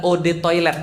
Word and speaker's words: eau de toilette: ya jadi sombong banget eau de toilette adalah Ode toilet bacanya e-awb atau odd kuatnya air toilet ya